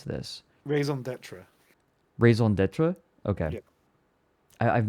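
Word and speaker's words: raison d'être: how do you pronounce this? Raison d'etre.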